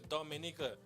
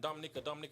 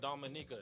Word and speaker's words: Dominica: know what I'm saying, it's Dominica. Yes. Because everybody keeps saying Dominica. She was like, Dominica. You know what I'm saying? Please pronounce it all the syllables, please.